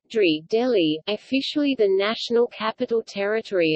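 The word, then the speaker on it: दिल्ली: Delhi, Hindi pronunciation, Dili Dili, Punjabi pronunciation, Dili Dili, Urdu pronunciation, Dri Delhi, officially the National Capital Territory of Delhi, NCT,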